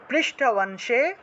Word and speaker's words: পৃষ্ঠবংশে: च, पृष्ठवंशे, पृष्ठवंशे धनुर्धारी, এখন অনুসার শব্দের মাঝখানে থাকায় নয়ের মতো উচ্চারণ হবে পৃষ্ঠবংশে ধনুর্ধারী, ধনুর্ধারী।